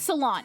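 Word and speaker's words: Ceylon: I keep forgetting the I keep forgetting the pronunciation of this. I have to look at it every time. It's salon. It's salon.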